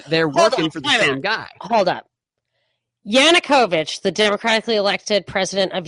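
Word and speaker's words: Yanukovych: how do you say his name Yan yanovich yanukovich yanukovich thank you the work on my Annunciation there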